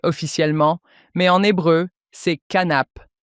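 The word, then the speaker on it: כנף: Mais le mot grec, je ne sais même pas comment le prononcer officiellement, mais en hébreu, c'est canape.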